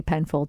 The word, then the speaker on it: Penfauld: And we should say it's spelled Penfold. F-A-U-L-D. So F-A-U-L-D, Penfold.